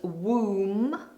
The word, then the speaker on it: womb: The baby lives very comfortably inside the woman's womb, womb, no b on the end. It's a silent letter the womb or the